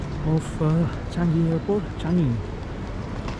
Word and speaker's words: Changi: Changi, that's how you say it.